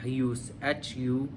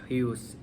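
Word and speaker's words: υἱός: सो Greek लफ्ज़ जो बेटे के लिए इस्तेमाल हुआ है वो है ह्यूस, HUIOS, ह्यूस, HUIOS, ह्यूस। इट्स a little bit pronunciation difference होगा लेकिन आई can repeat the spelling, HUIOS, सन।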